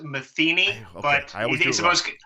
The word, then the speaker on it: Matheny: really well it's pronounced Matheny but I think it's the most it's the most common mistake and mispronunciation of the world you have to think of like Pat Metheny the the famous jazz